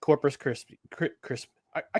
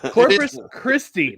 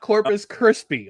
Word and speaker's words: Corpus Christi: Coming off of a successful road trip where they beat Billings and they beat Corpus Christ. I keep I keep mispronouncing Corpus Christi. Not Corpus Krispy, although they're now Coco Crisp, former outfielder.